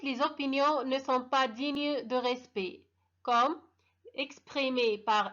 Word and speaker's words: digne: digne هذيك تقرا digne حرف الجاي ما تتنطقش.